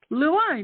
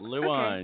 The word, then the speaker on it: Lewine: yeah it's lewine L wine just the way it looks L wine yep the wine okay